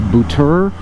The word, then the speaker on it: Buture: The brand that I bought is, I'm going to mispronounce it. It's a Chinese company, but they never use Chinese company names, obviously. It's Buture, B-U-T-U-R-E.